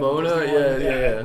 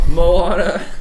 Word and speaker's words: Moana: Mona, yeah. I remember Is that how I say it? a Mona, Moana? Moana.